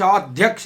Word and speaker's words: अध्यक्ष: अध्यक्ष, अघिल्लोको द उच्चारण लेख्दाखेरि अ आधा ध य क्ष लेख्ने हो, तर उच्चारण गर्दा आधा ध भन्दा अगाडि द आधाको उच्चारण गरेर मात्रै ध आधाको उच्चारण गर्ने हो।